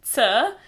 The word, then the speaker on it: C: in Slovene for example the letter C in Slovene which is pronounced sir sounds similar to the combination of letters T and s in cats so hopefully this will